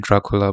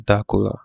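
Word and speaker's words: Darcula: like da cola okay but first i'll pronounce it dracula but i'll notice it's da cola da hula dakula okay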